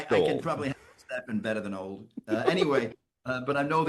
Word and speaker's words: Stephen: And I think you agree with that, Stefan? 100%. It's pronounced Stephen, by the way.